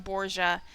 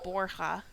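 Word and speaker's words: Borja: I decided on Boura and I'm just sticking with it. When if this game took place in Spain, it would definitely be Borha, but I've been really inconsistent about pronouncing Cathy's last name.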